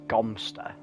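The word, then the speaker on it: Godmanchester: God Manchester is pronounced Gumpster.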